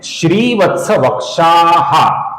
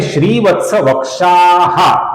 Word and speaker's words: श्रीवत्सवक्षाः: यह है श्रीवत्स वक्षाः। इसका कुछ लोग श्रीवत्स वक्षः ऐसा गलत उच्चारण करते हैं। सही उच्चारण है श्रीवत्स वक्षाः, श्री का दीर्घ उच्चारण और क्षा के आगे विसर्ग।